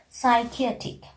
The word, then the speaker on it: psychiatric: You know, normally letter P is silent if any word is just beginning with the letter P. In that case, we are not pronouncing the sound of P. Examples are psychiatric, psychology, pseudoscience, psychic.